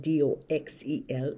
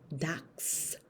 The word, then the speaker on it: Dachsel: My name is not spelled Doxel. It's spelled Dachsel. Dox. Dachsel. Not. Dachsel.